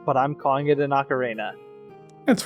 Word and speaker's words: ocarina: And then I have a conch ocarina, which I never pronounce right, but I'm calling it an ocarina.